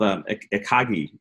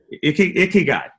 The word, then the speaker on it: ikigai: It's called ikagi. I may be saying it wrong, but it's a Japanese concept, and it's the concept. What is it? Ikigai. Did I say it right? Ikigai.